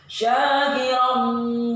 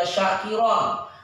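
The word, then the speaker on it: شَاكِرًا: Syakiran wa imma kafura. Jadi romnya ini nggak boleh dibaca syakiron, harus dibaca didengungkan, dimasukkan pada wawu.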